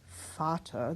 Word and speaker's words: Vater: Vater, this is very much like the same thing. These are pronounced as F's, yes.